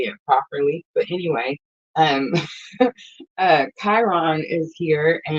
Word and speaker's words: Chiron: But anyway, um, Chiron is here, and it's like a lot of people pronounce this Karen.